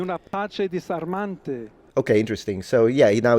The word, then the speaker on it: disarmante: So he definitely pronounces the S in intervocalic position. So when the S is in between two vowels, he's pronouncing it as it's a fricative still, but it's the S variety, rather than the Z variety.